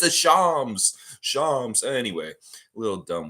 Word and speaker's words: Shams: Shams. I always want to say Shams because it's like that's how I pronounce it, but it's Shams.